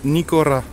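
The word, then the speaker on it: Nikora: Tu peux venir dans les enseignes, cette enseigne, là, ça se prononce Nicora.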